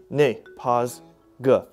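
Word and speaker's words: 那个: The word is most commonly used with a pause between both syllables." Really? Ne, pause, ge.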